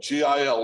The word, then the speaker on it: Gil: to spell it yo Gil like a fish and your last name